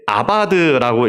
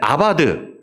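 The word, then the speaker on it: עבד: 저게 이제 아바드라고 읽습니다. 그 히브리어는 오른쪽에서 왼쪽으로 읽습니다. 거꾸로 읽는데 이제 아바드 경작하다, 이제 노동하다라는 말이고 이제 이게 명사로 에베드가 되면 이제 종이 되는 겁니다.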